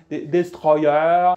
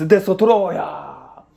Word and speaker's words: Destoroyah: ou Destoroyah, Destroyer, vous le prononcez comme vous voulez. Les japonais ils disent Destoroyah. Destroyer.